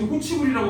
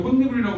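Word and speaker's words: 홑이불: 자, 이거 발음할 때 자기 혹시 호치불이라고 발음하는 사람? 이거 그냥 봐도 혼니불이잖아. 그지? 그 이유가 얘가 실질 형태소라서 그래. 내가 혼니불이라고 발음하거든?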